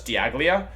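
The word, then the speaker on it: Dialga: So somebody last stream asked, how do I pronounce the Pokemon that's the time legendary from Diamond and Pearl? That's Diaglia.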